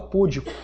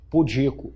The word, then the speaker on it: pudico: Mas essa palavra aqui, que o menino lá atrás falou, muita gente fala púdico, não fala? Mas ela é o quê? Pudico.